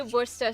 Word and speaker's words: Worcester: sa a Chester sauce that's wer wor sauce it's two syllables why do people struggle uh because the three the three hardest things to say yeah so I'm sorry you're right and it's it is it is actually Worster sauce but if you asked